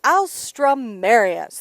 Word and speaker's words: alstroemeria: welcome by the way try this pronunciation for the flower I'll strum Marius this is what we're gonna be painting today's the alstroemeria yeah okay I would